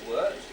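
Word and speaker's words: wort: from being liquor it's now called word pronounced words and spelt w-o-r-t you'll see that i've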